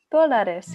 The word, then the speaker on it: dólares: Dólares, yeah. So there's an accent on the O, dólares.